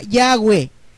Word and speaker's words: Yahweh: cuando le pusieron consonantes suena Yahweh, Yahweh, y empieza con H, no empieza con J, así que jamás pudo llamarse Jehová, porque no empieza con J, empieza con Y. Y los dueños de la pronunciación son los hebreos. Entonces ellos le pusieron Yahweh, no Jehová.